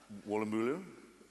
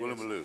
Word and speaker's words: Woolloomooloo: From Woolloomooloo? Well, I think it was actually the University of Woolloomooloo. Yes. Woolloomooloo, so I knew I was pronouncing it.